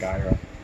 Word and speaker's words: Nagaira: Nagaira.